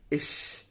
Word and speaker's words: ich: اللي احنا قلنا عليهم، نبدا ان احنا ننطقها زي ما بننطق الضمير الشخصي اللي هو انا. اش.